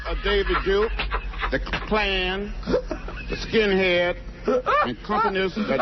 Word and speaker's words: Klan: The clans. The Klan.